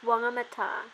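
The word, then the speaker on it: Whangamatā: It's WHANGAMATA.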